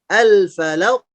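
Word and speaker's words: الفلق: Kemudian untuk huruf qaf. Al-falaq. Al-falaq. Suara pantulan yang dihasilkan pun tebal, tidak tipis.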